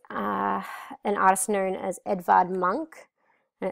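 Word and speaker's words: Edvard Munch: It um reflects uh an artist known as Edvard Monk and it's spelled E D V A R D M U N C H.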